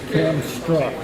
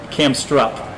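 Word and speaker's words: Kamstrup: How do you pronounce it? What's the name of it again? Camstrup? Camstrup. Camstrup.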